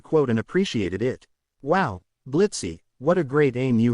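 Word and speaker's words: Blitzø: And anyway, the O is silent now, you iron Blitz replies, taking off his glasses.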